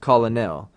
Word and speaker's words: colonel: but it's still pronounced colonel. The English spelling also changed, and the pronunciation was shortened to 2 syllables.